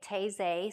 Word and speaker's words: Taizé: And if you were here last Sunday, I have learned how to say Taizé since then. So I think that's the correct pronunciation.